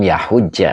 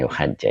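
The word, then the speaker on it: يحج: Falam yahujja, bukan yuhajja ya.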